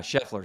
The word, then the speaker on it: Scheffler: Is that how you pronounce the gentleman? Yeah. Scheffler, Scotty Scheffler.